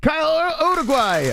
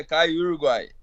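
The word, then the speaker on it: Caio Uruguay: this name correctly it's it's kyo uruguay how do you say this yeah kai uruguay yeah you're saying it perfectly oh great perfect well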